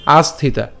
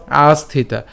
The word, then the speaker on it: আস্থিতা: তাহলে একসাথে যদি উচ্চারণ করতে যাই তখন তার উচ্চারণ হবে আস্থিতা ঠিক আছে আস্থিতা তহলে হচ্ছে কি হবে কর্মনৈব হিসং সিদ্ধিম আস্থিতা জনকাদয় আস্থিতা জনকাদয় এরপর লোক সংগ্রহম এইযে আমরা